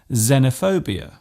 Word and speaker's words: xenophobia: not a silent letter it often starts a word by being pronounced as Z such as in xylophone and xenophobia this particular use stems